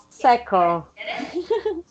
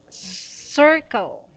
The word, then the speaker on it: circle: Cycle. Okay. Circle. Circle. Okay, that's very good. Circle. Okay, not cycle.